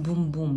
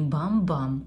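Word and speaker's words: Boom Boom: где вот, вот pronounced бум-бум, не бам-бам, а бум-бум. Это бум-бум крем.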